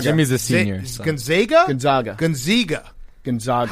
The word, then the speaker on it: Gonzaga: Gonzaga. Gonzaga. How do you pronounce it? It's a long A. Zaga. Gonzaga.